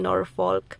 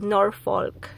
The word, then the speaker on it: Norfolk: Kanina po kasi nag-shoutout ako sa garden, kaya lang mali yung pagka-pronounce ko ng Norfolk. Ginawa kong Norfolk. Ginawa ko inuna ko yung L sa Norfolk.